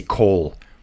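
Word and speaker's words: Kool: Then maybe Voss and I think you say Cole. I want to say Cool so bad because it's such a cool name, but I think it's Cole, how they say it.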